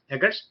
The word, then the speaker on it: Eggers: How would you pronounce his last name? Eggers.